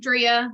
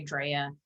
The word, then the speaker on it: Drea: So my name is Drea, long E. I always have to give that disclaimer because some people will say Drea, and that just like grinds my gears.